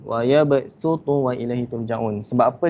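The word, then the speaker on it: ويبصط: Tapi cara bacaan dia kena sebut huruf sin. Dia tulis huruf sad tapi baca huruf sin. Wa ya basutu wa ilaihi turja'un.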